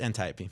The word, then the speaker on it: Antiope: no, it's Antiope.